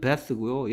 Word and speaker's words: bath: 얘는 베스고요. 얘 발음은 뭐가 되느냐?